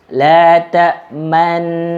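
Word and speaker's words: لَا تَأْمَنَّا: Ismam itu adalah mengisyaratkan dhammah dengan mulut kita, tetapi kita tidak membaca dhammah tersebut. Bagaimana cara membacanya? Perhatikan kalau kita baca ismam, la ta'manna. Jadi ada monyongnya yang isyarat kita membaca dhammah. Padahal dhammahnya ini nggak ada.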